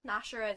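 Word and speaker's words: Gnasher: sure sorry Dennis Dennis nashera is his dog Nasher with silence Nasher with the silent G and everything else about him it begins with G even though it's silent it's just funny and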